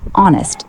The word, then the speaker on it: honest: Honest, silent H, pronounced honest.